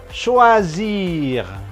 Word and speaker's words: choisir: Ada CH itu bunyinya sh, sholat, syarat kurang lebih gitu ya. Sh. Kemudian ada OI dibacanya OA, OA, toa gitu ya. Teriak-teriak pakai toa gitu. Shoa, kemudian satu S di tengah dua huruf hidup menjadi Z. Oke.